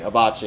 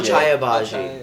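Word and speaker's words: Achai Agbaji: don't want to pronounce his name wrong. Obachi, yeah. Obachi. He's yeah. going to the Oh, Cavs here. I love him. Obachi. Yeah, love not Wow. not for us. Obachi. Ochai It's Abaji. Ochai Abaji.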